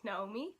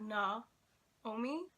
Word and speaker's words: Naomi: For people who can't say my name in Dutch, because my name is Naomi. It's like Naomi. But if you speed it up, it could be heard as Know Me.